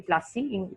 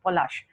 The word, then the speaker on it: Polash: It is not actually Plassey. Plassey is the anglicized way of pronouncing a flower which was very, very abundantly found in that area where the battle was fought, which was Polash.